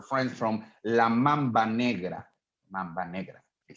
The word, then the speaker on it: Mamba Negra: Mamba Negra, they said, okay?